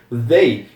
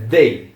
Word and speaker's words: they: Mas voltando aqui pros pronomes, they, então não é um T e também não é um s, é uma mistura entre os dois colocando a língua entre os dentes. Então aí fica they.